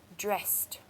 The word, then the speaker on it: dressed: is dressed dressed and you can see a t sound that I'm making when I say dressed it's probably because the word ends in a double s and it makes it that easier for us to say dressed okay next word is